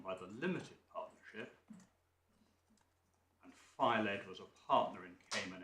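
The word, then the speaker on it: Fyled: Filed, that's how you pronounce it, is it?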